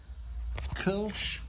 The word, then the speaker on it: Kölsch: It should be Kölsch because it comes from Köln, what we would know as Cologne.